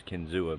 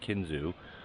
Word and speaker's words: Kinzua: I always pronounce it as Kinzua, but it's actually pronounced Kinzua.